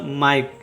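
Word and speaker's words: mike: जाएगा ये हो जाएगा माइक इ का कोई उच्चारण नहीं होगा इसे पढ़ेंगे माइक इधर देखिए बी का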